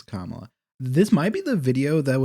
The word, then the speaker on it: Kamala: And Kamala's like, hey, you're it.